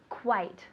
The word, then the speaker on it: quite: it's quite hot good quite tell me quite very good quite so we have quiet right callado is quiet or quite quite it sounds like a w quite one more time